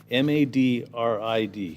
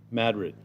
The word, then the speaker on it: Madrid: So I got MADRID. So according to this, it's Madrid. Not Madrid, Madrid.